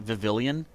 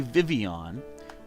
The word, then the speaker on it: Vivillon: So it is supposed to be Vivian, but I kind of just like saying Vivillion just for fun.